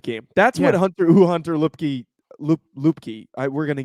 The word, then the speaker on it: Luepke: just waiting for it i'll go lipkey now the the announcers are saying look loop key hunter loopkey loop i'm pretty sure yeah loopkey but he gave me like